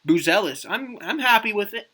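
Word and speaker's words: Buzelis: M Chicago polls um they took Matas or Mattis I believe he pronounced it in his uh his little postd draft video buellis I'm I'm happy with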